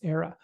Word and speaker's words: Ara: I think it's actually Era. It's actually Era. It's not Ara. It's Era.